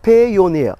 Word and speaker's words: Payoneer: It's almost like Pioneer, but it's called Payoneer.